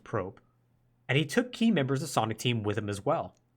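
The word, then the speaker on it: Prope: So he left to go form his own studio called, I believe it's pronounced Probe, and he took key members of Sonic Team with him as well.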